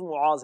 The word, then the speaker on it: معاذ: معاذ یا معاذ؟ نہیں، معاذ. اصل تلفظ معاذ ہے، میم پر پیش ہے.